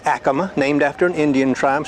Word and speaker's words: Acoma: Okay, I used to say Acoma, but Acoma. This sounds a little better. I used to say Acoma too until a Native American came up to me and said the correct pronunciation is Acoma.